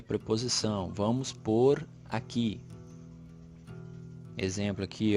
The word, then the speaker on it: pôr: Vamos pôr aqui. Exemplo aqui, ó. Vou pôr o livro na estante que foi feita por mim. Vejam que a pronúncia é exatamente igual, mas são palavras completamente diferentes.